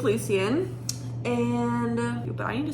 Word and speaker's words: Lucien: Also, apparently Lucien is Lucian, which absolutely not. I'm not calling him Lucian. That's just not right. Like in Harry Potter, it's Lucian Malfoy, not Lucian Malfoy. So his name's Lucien.